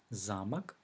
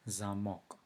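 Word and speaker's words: замок: very much alike however the stress is in a different position and this change is not only the meaning of the word but also the way they are pronounced so castle is szarmach and lock is szarmach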